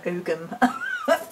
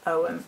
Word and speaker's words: ogham: an ow perspective as well I'm practicing saying om rather than umum because apparently the the proper pronunciation is Owen and we do have Glenny kindred's book book